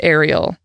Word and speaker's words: Arielle: who they named Elizabeth Arielle I get it Arielle and it is spelled like Airy Ariel like aerial navigation not like Ariel the mermaid that means though that